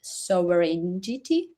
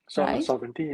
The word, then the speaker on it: sovereignty: It's digital sovereign sovereignity. Sovereignty. Okay.